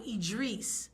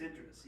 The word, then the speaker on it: Idris: pronunciation of his name she calls him idri is it Idris elow or IDR Idris I think it's Idris Idris she's wrong I hear everyone was like ID I'm like that's not his name yes it is I'm